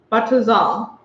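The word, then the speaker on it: בצל: In Hebrew, onion is pronounced batazal.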